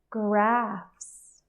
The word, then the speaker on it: graphs: safe laughs laughs laughs graphs graphs here I've included these words because they have different spelling we have a GH and a pH but they actually say f so it's going to